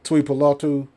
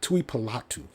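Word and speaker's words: Tuipulotu: streak and ball uh toy palatu I said it wrong Tui palatu but he's going to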